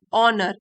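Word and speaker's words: honour: इट इज a time to ऑनर आवर past, ऑनर H silent S में, celebrate आवर present.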